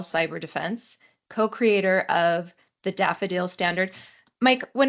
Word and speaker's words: DFDL: And a long time ago when that acronym was first coined, uh, someone said, "Yeah, we can use daffodils as our logo and pronounce it daffodil."